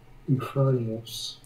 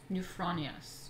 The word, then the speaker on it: Euphronios: How to pronounce Euphronios. Euphronios.